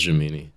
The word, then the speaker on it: Gemini: J mini man oh it's Gemini man but it looks it sounds funnier if I say jamini jamini man no you said it right it is jamini oh thank you than